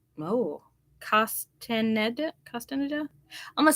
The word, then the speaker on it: Castaneda: she also says the root Witch by Deborah costen oh Castaneda I'm gonna spell it for you guys c-a-s-t-a-n-e-d-a Castaneda there now